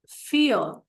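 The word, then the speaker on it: vier: 2 का, 3 का ड्राई, 4 का फियर। फियर जैसे कि हमने अल्फाबेट्स में कहा था वी इज फाउ, तो वी का प्रोनाउंसिएशन फाउ है, इसीलिए वो उच्चार उसका होगा फियर।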